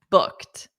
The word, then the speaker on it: booked: So you can say okay booked. Booked. Notice that pronunciation. Booked. T with a soft T.